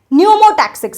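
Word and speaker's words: pneumotaxic: Brain के पों्स reason के अंदर एक सेंटर होता है जिसे बोला जाता है न्यूमोटैक्सिक सेंटर। पी साइलेंट है।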